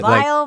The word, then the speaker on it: Viall: Vall you overemphasized again am I saying it wrong or right no you said it right but vile VI I don't emphasize files it's fine v files